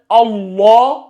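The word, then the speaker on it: الله: Voilà, mais quand c'est Allah, le lam, il est tafkhim.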